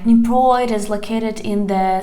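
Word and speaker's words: Дніпро: Here we have Dnipro, Dnipro.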